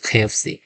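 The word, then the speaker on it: KFC: সাধারণত আমরা উত্তর দেব মাই ফেভারিট রেস্টুরেন্ট ইস খেফসি কটা কেটা ক এর মত না খ এর মত উচ্চারণ হবে তৃতীয় নাম্বার দেখতে পাব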